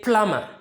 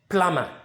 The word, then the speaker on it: plumber: pronounce it you say plummer plummer now the b over here too is silent so we don't pronounce it that's why we are pronouncing it plummer go and call my